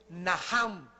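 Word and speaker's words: נחם: La primera palabra que se usó en el Antiguo Testamento es Naham, en el hebreo que se escribe Nacham. La CH en el hebreo se pronuncia como J y significa cambiar la manera de pensar.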